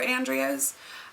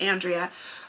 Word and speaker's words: Andrea: you pronounce it so i tend to pronounce it Andrea but you can also pronounce it Andrea Andrea aundrea and my typical response to people is you know I respond to however whatever pronunciation um and it really depends on what part of the world you're from and well language you speak and if I could